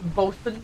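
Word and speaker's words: boatswain: And it's pronounced Bosen.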